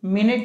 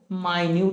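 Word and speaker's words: minute: चीज को हम लोग मिनट भी पढ़ते हैं ठीक है ना ओके और इसी चीज को हम लोग माइन्यूट भी पढ़ते हैं स्पेलिंग सेम है बड़े एकदम लोअर स्तर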